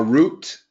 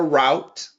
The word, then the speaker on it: route: general direction Orient themselves a roote and we can also say a route testosterone testosterone significantly deteriorates